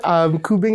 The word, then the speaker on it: kubing: Am I pronouncing those right? Kulintang. Kulintang. Okay. I looked it up. You said kubing, right?